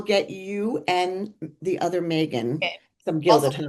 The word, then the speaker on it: Meagan: We will get you and the other Megan Okay. some Also Gilded Honey. pronounced Megan, but spelled Meagan.